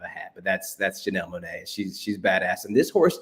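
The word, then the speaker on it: Janelle Monáe: start here in the us yeah it is pronounced janelle monae because that name actually comes from kansas city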